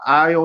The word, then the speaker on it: aisle: M don't forget when you say the aisle and the grocery store the S is silent and that spelling when